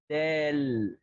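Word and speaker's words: دال: So your tongue should be also before your teeth, not and it's not outside. Okay, so it's simply this is kind of like the letter D Yeah. in the English language.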